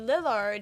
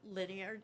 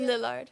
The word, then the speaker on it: Lillard: I have to say I was so excited that Matthew Lineard, how do you say it? Lillard. Lillard.